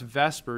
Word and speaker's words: VSEPR: to come out now let's pronounce Vesper even though the S comes before the e not my decision by the way and